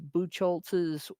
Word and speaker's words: Buchholz: and discussion for Jeffrey, I believe this is pronounced Buchholz's Away from Violence. Maybe Buchholz, just depending on the nationality.